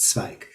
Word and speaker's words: Zweig: is Tzadik, Zwei Waven, Pasach zu Yud Gimel, pronounced Zweig.